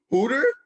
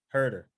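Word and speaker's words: Herro: But thanks to lemon pepper, Hooter, and this Hawks team, they just Hooter?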